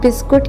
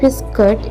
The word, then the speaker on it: biscuit: अक्सर लोग बिस्कुट कहते हैं बट इट्स नॉट बिस्कुट, इट्स बिस्किट, okay.